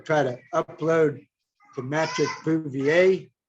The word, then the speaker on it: Bouvier: to upload to magic bouvier that's spelled like boovy air mattress juvie air kind of like patrick bouvier